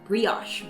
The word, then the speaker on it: brioche: Today we're making brioche or brioche (-osh) Both pronunciations are correct Anyways, it's going to be super fluffy, at times, almost monstrous...